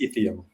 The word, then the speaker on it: Itheum: even better than us but the way you pronounce it is ethium okay so uh do you mind if we call it item in romanian it's much easier ethium is like okay where does it come from